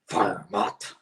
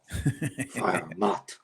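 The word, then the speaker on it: Freiermuth: le moment d'habiller Pat Freermuth. J'ai-tu pas pire? C'est Farmot.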